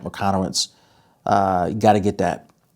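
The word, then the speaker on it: Michalowicz: I think he pronounced his last name Mike McConowitz.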